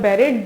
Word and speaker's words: buried: The world is called buried. The U से start होता है but उसके pronunciation बे होता है, okay? Buried.